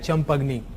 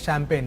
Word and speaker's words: champagne: Last year there was one student who has pronounced champagne as champagni, so that is champagne, okay, so do not pronounce like that.